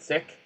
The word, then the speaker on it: SYK: talk about sick I is that how you pronounce it sick yeah yeah we I I